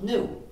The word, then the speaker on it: gnu: countless word plays because according to the dictionary the g is silent and it's pronounced new so every time you